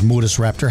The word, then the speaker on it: Murusraptor: like we do here in the United States, Murusraptor. But its true pronunciation is Murusraptor.